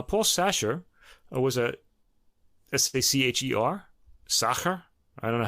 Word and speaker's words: Sacher: sasher or was a s-a-c-h-e-r sacher i don't know how to say it i hope you're saying it right i think it's it's a german pronunciation soccer was a swiss conductor